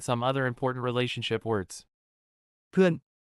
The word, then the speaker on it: เพื่อน: เพื่อน Sounds like puin with a falling tone. This means friend or friends but isn't used for I or you only for referring to he, she, or they. เพื่อน เพื่อน เพื่อน แฟน Rhymes with fan.